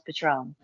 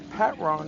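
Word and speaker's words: Patrón: realizing how do you not know how to pronounce Patron? The fuck is this bougie ass bottle, man? The fuck is Pat Ron anyway? It's Patron tequila, Wayne.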